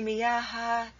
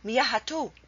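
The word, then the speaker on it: مياه: You cannot say miyahatu. It's not miyahatu, it's miyah.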